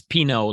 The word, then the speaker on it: Pineault: It's Pineault, like the wine.